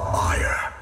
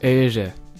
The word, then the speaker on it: Éire: The Irish call their island this, which if you're like me, your first inclination is to pronounce it like my life for ire.